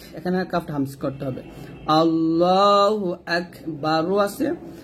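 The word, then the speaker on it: الله أكبر: কাফটা হামজ করতে হবে আল্লাহু আকবার আছে যদি আমরা এখানে থামি তাহলে র টা সাকিন হয়ে যাবে আর এবং র টাকে মোটা করতে হবে আল্লাহু আকবার আল্লাহু আকবার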